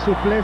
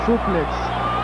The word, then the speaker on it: suple: Nos dicen que no es suple, sino suplex. Con todo respeto les decimos, es un galicismo, así que la pronunciación correcta es suple. La X se suprime, se acentúa la E, y lo correcto es suple.